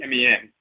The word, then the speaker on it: Min: his title is men sometimes they spell it Min n it's really Meen so his name is